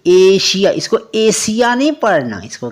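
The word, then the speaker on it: Asia: क्या कहता है कि अगर किसी वर्ड में एस के बाद आई ए आई ओ एन एस आई ओ एन यह तीन चीजें दिखाई दे तो एस का उच्चारण क्या करना है एस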